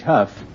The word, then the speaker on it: Hough: say you pronounce h o u g h Huff how do you pronounce uh d o u g that's do